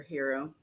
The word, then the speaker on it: gyro: and uh the is a how you say it gyro it's Greek yeah say it again yeah gyro what do you say they say around here hero gyro hero gyro whatever I say tomato you